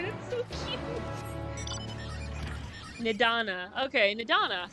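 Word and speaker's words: Nidhana: Okay, Nidana. See, the H is silent.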